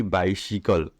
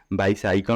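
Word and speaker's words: bicycle: क्या लिखा है माय बाइसिकल क्या पेंगे बायसाइकिल नहीं पेंगे क्या पेंगे बाइसिकल इसका शुद्ध जो उच्चारण किया जाता है क्या किया जाता है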